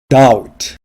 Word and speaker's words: doubt: confidence 자신감 confidence 자신감 doubt 의구심 의심 doubt 의구심 의심 doubt에서 b는 발음되지 않습니다.